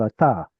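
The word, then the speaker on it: אתה: Ata also has a strong dagesh, and it's because its root is the same. Anta. You'll notice that noon at the end of a syllable often assimilates into the following letter.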